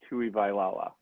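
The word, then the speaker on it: Tuivailala: already did sam so tui lala p-u-i v-a-i-l-a-l-a tui vailala yes oh here it is thanks for the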